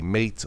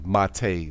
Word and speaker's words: MATE: If you want to try Linux Mint, I recommend the Mate or the Mate version, as it is called. It's spelled Mate, M-A-T-E.